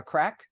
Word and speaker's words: craic: Isn't the expression to have a crack? Have a great bit of crack. Yeah. Yeah, that's it. That's And it. it's spelled CRAIC.